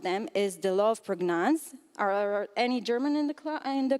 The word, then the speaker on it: Prägnanz: One of them is the law of Prägnanz. Are any German in the crowd? Am I pronouncing it right? Prägnanz? Yeah, cool.